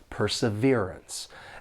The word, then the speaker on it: perseverance: about perseverance for pronunciation this word has four syllables and the stress is on that third syllable perseverance and the second and fourth syllable have that unstressed schw W sound sounds like uh perseverance and it's good to practice